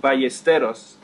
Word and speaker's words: Ballesteros: It's pronounced Ballesteros.